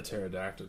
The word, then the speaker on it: pterodactyl: can't you hear a pterodactyl go to the bathroom cuz it's P is silent one of my favorite